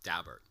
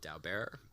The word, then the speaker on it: Daubert: United States Supreme Court called dabert it looks like it should be called Dal Bearer but I know people who know the dabberts that's the way they pronounce the name so they were people